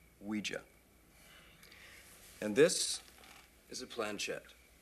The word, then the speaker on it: Ouija: It's pronounced Ouija, not Ouija. It comes from the French and German words for yes, oui and ja, Ouija.